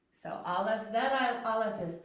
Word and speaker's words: aleph: But Aleph is a silent letter. Okay, it only makes a sound when it has vowels. And so this Aleph is silent, so I can't ask you to make the sound with me until I teach you a vowel.